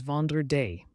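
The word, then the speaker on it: vendredi: before the weekend starts Friday in French is vandra said as vand day it's the day to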